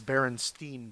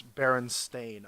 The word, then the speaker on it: Berenstain: Because I also remember it as Berenstein Bears, even though it's Berenstain, according to the author.